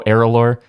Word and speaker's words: ERALôR: and first i know aerolor i am saying it correctly now i hope you are good yeah because i know at